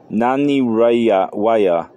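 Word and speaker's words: Nanih Waiya: so in case I'm pronouncing those cities wrong the spell n a n i h that's the first word and the second word is w a i y a with 140 p.m.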